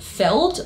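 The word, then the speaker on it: Feeld: There's actually a very popular dating app called Feld. I believe it is spelled F-E-E-L-D.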